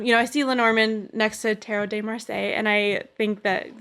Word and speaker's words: Tarot de Marseille: little bit of the Tarot Marseille. Is that how you say it? Tarot de Marseille.